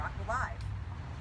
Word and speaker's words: AquaLiv: Now, I am saying AquaLiv because I believe that's how it's pronounced. You might say AquaLiv or AquaLive. Let's go with AquaLiv, unless someone says different, okay?